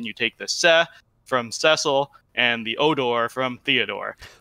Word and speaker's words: Cecil: name, Cecil, and again, it is Cecil because that's how they pronounce it in every single voiced version of Final Fantasy, Dissidia World of